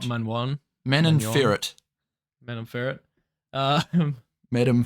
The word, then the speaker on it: Manon Fiorot: I think it's pronounced Manon like Fiorot. Manwan.